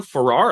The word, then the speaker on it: Farrar: high voltage business builders podcast i have norm farrar i'm going to pronounce that wrong tonight no you're perfect 100